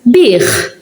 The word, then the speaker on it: bih: Now this one, it's bih. This one, it's bih. Bih. Bih kollox. He sold everything. And this one, it's bih. The yaket's at the end, so you pronounce it.